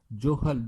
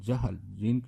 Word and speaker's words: جہل: اس کے بعد ہے جہل، جیم کے اوپر زبر ہے، پیش نہیں، جوہل، جوہل نہیں، جہل، جیم کے اوپر زبر پڑھنی، پیش نہیں پڑھنی، جیم کے اوپر زبر،